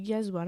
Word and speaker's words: gazole: Alors attention, ça s'écrit gazole, mais c'est du gasoil, hein, c'est l'essence.